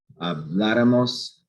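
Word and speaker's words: habláramos: This is stressed. That's the third from last syllable, which isn't what our rule is. That's why we write an accent mark on it to show that this is actually stressed, not this.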